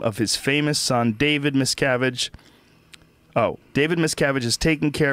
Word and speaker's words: Miscavige: What's the correct pronunciation? It's Miscavige? No, Miscavige. Miscavige.